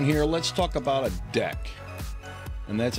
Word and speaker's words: deque: let's talk about a deck and that's how you pronounce this thing it's not dq or de qui or no it's a deck like a deck of cards that's how you pronounce